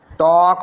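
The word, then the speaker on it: talk: बोलेंगे इसको वॉक ये क्या हो गया देखिए टॉक बोलेंगे टॉक अब आप क्या देख पा रहे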